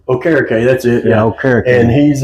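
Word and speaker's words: Okereke: We can't pronounce his name. He had 72 and Walker had 92. All three linebackers. All three. Okare. Okare.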